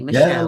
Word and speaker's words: Machel: Am I pronouncing your name correctly? Michelle, Michelle, that's fine.